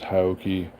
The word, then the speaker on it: HAOQI: the nice Folks at hioki Hai depending I've heard it pronounced both ways I'm not sure which which is correct I'm told both are it's a great company